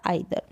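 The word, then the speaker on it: either: Receipt है, ईदर है, इस ईदर को हम आइदर भी पढ़ते हैं, दोनों तरीके से आप प्रोनाउंस कर सकते हैं, ईदर या आइदर।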